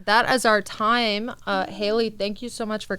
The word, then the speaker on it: Haley: we spell haley oh h a l e y it's like halle you know but i pronounce it haley and what's read oh